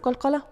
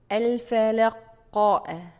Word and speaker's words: qalqalah: Okay, next common mistake here, ending sound of qalqalah with hamza. الفلقاء, فلقاء. No, there is no hamza.